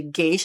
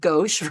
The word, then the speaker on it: gauche: Sometimes I'm not always correct, like I wanted to say gay-sh instead of gauche, right?